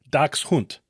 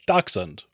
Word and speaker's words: dachshund: Now, if you want to sound like you know German, which I do not, it's pronounced closer to dachshund. Most Americans say dachshund or just skip the